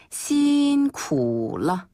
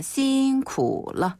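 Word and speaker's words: 辛苦了: 때 수고하셨습니다 표현은 바로 신쿠러 신인가요 신인가요 신인데네 신인데 너무 쌍시 발음을 강하게 할 필요는 없고요 그냥 부드럽게 그냥 신쿠러 그 신스틸러 할 때 신 그 느낌이네요러 예 한번 더 신쿨러 신쿨러 어 란 단어가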